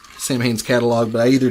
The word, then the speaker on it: Samhain: that it apparently that correct Gaelic pronunciation is saw win' even though it's spelled sa ma che i